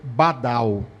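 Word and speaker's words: בדל: Por enquanto, a palavra separação, hebraico aqui de Isaías 59, essa palavra que no transliterado do português, a pronúncia vai ser badal.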